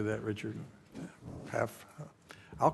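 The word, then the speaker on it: PAHPA: PAFA.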